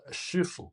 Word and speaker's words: shifu: In Mandarin Chinese, the pronunciation is shifu.